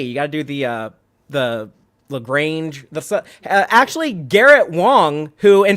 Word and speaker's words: Lagrange: Point, or Lagrange Point, as Tilly said it in this episode. But we ain't fancy enough to say it like that. We're going to say it Lagrange. In Texas, we have to just for the ZZ Top song. You gotta do like the long A.